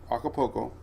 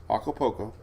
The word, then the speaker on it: Acapulco: Acapulco. I actually Googled it how to say it this morning. Acapulco.